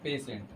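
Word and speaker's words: patient: द पेशेंट चलिए बताइए पेशेंट के स्पेलिंग यही होता है ना पेटी एंट ना पेट एंट लिखा हुआ है पढ़ते हैं पेशेंट तो लिखा गया था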